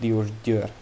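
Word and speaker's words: Diósgyőr: and eager castle uh it's pronounced diordur uh and aguer but uh yes uh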